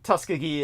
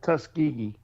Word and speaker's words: Tuskegee: nod to the Tuskegee Tuskiggee experiments. How do I pronounce that correctly? Say it the way a Southerner would for me, Troy. How is it? Tuskegee. Tus. It's just Tuskegee.